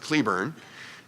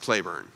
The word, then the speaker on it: Cleburne: in Texas, it's pronounced Cleburne, I think. And as the name of a general in the Confederate Army, it was pronounced Claiborne, even though it's spelled the same way.